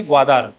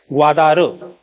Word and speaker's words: ग्वादर: चीनने विकसित केलेला आहे ग्वाधार ओके स्पेलिंग अशी बनते त्याची इंग्लिश मध्ये म्हणायची गेली तर मराठीत त्याला ग्वाधार म्हणतो आपण है ना तर बघा